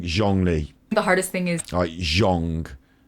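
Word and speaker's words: Zhongli: Lee jongli so John Lee's name I'm saying zhangli the hardest thing is Zhang like the first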